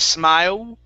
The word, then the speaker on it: smile: try that smile okay give me an l instead of smile okay l sound smile there you go good